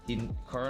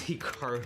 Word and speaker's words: Hikaru: Now, even myself, when I pronounce my name, it's definitely more Americanized versus Japanese. Certainly, if I was pronouncing it correctly, it would be more like Hikaru as opposed to Hikaru, but I've spent so much of my life here in America that that's just how I pronounce it, and everyone does the same thing.